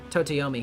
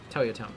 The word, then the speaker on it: Toyotomi: Totoyomi Hideyoshi made his son-in-law Hidetsugu commit seppuku. Toyotomi, yeah, I did pronounce that right, yeah.